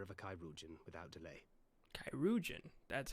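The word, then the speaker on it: chirurgeon: Kairoujan? That's how you pronounce it.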